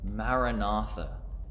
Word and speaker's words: Maranatha: And because it's broken up into different syllables, Maranatha, it can be also practiced in time by using our breath, breathing in on Mara and breathing out on Natha.